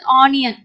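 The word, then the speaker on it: onion: ஸ்டார்டிங்ல வருது அப்படின்னும் போது, இப்போ for example ஆனியன், ஆனியன். ஸோ இதை ஆனியன் ஆன்ற எழுத்துல நம்ம உச்சரிப்போம். ஓகேவா? ஸோ இங்க ஆ வரலையே அப்படின்னு நீங்க யோசிக்கலாம். இங்க ஆனி அன், அதாவது ஆ நீ அன், ஆனியன்.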